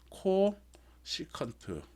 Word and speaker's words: 코시컨트: 읽는 거는 어떻게 읽냐면 코 시컨트 CANT 코시컨트라고 읽어요.